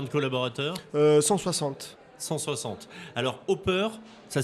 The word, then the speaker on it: Opper: Alors Hopper, ça s'écrit O-2-P-E-R.